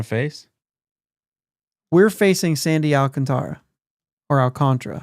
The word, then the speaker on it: Alcantara: uh Flores Robert Flores I think he says Alcantara of course rolls and everything yeah but I think it's alcantra it is alcantra yeah the emphasis is